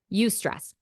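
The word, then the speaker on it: eustress: is actually good it's called UST stress that is spelled EU and then the word stress you stress so for example let's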